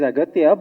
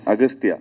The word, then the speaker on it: Agastya: It is Aghatya, but in the film, your name is pronounced in different ways. Agastya. Yeah. Yeah. In both ways, it is pronounced. Yeah, it's Aghatya and also Agastya.